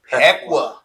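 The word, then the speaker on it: Pequea: So, next we got Delo Christian, first year varsity football, 11 man varsity football taking on Pekqua. Am I pronouncing that right? PUA.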